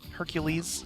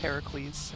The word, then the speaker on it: Heracles: It's teasing the next boss, Heracles, or Hercules, I will not. depending on if you, which pronunciation you prefer, but it is Heracles in the Greek.